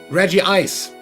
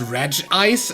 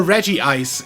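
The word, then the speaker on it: Regice: of people pronounce this red ice and not reggie eyes but one every other reggie is called reggie something and two the japanese name is reggie isu therefore reggie ice is the correct pronunciation fight me either way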